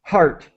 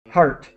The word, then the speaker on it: heart: pronunciation so just say heart the E really is silent we do not pronounce the E okay heart hearts heart so H